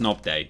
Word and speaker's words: Nobday: normal knob day he's a nobody but it's pronounced knob day it's a corruption it's been corrupted over time